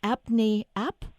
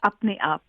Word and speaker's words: Apne Aap: Is it pronounced Apne App? Yes, perfect. Oh, good. It's Apne Aap.